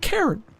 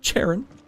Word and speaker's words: Karen: It's Karen, not Charon.